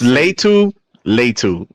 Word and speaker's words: Latu: have Lou if I'm saying it correctly lat latu Edge from UCLA going to it's Leu Leu first of all Le Leu L it's Leu